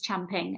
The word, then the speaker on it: champing: And it's not chomping, it's champing. And if you hear someone say champing and think that's weird, they're actually saying it right.